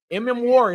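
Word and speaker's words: Emmanwori: Mm. Warry.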